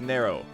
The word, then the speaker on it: Nero: know how to pronounce that name apparently it's pronounced narrow so uh Pablo Pablo but what I was